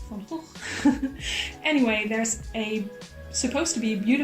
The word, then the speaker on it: Van Gogh: I'm a Dutch person, so I should pronounce it as it should be pronounced, which is Van Gogh.